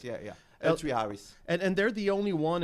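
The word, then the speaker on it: L3Harris: Laris? Am I pronouncing it right? Yeah. L3 Harris.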